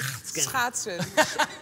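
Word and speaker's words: schaatsen: How do you pronounce it? Schachten.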